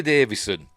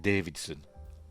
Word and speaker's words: Davison: Anyway, Fifth Doctor, Peter Davison. I've always pronounced it Davidson. I've always put a D in there for some reason, but it's not, is it? 81 to 84.